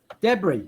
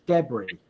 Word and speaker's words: debris: you say it de debris that's it the uh no s the S is Sil so it's pronounced like like that like like the S doesn't exist so it's debris okay so pieces of